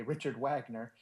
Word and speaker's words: Richard Wagner: is Wagner, as in Richard Wagner, or if you're going to pronounce it the American way, Richard Wagner.